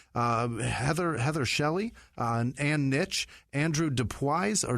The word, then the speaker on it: Dubois: Jerry Hutton, Elizabeth White, Heather Shelley, Ann Nitch, Andrew Dubois or Dubois. There's no O. It's not Dubois.